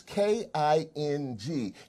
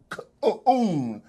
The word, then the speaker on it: King: Oh, speaking of which, is K-I-N-G, King, not K-oon, like that buffoon tried to say it was a mispronunciation.